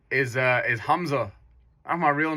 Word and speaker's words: Hamza: um well my real name is uh is Hamza that's my real name okay so H but it's spelled h a m z a that's my